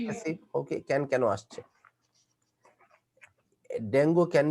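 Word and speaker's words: dengue: বেশি শুদ্ধ হইতে গেলে সমস্যা আছে, কিন্তু উচ্চারণ কিন্তু ডেঙ্গি।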